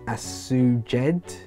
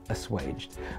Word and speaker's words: assuaged: So I would say that's asuged, but let's see what the CPen Reader Pen tells me. So I simply place the pen over the word, drag it across the word, assuaged, and instantly I've been told this word is actually pronounced assuaged.